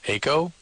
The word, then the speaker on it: Eiko: Aiko? Aiko. Aiko? Yeah, Aiko. How do you spell it?